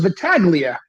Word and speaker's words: Battaglia: I thought it was Battaglia. Yeah, I mean the G Silent is there. G. Yeah. Silent G, Battaglia. or it is or it's not. No, it is silent.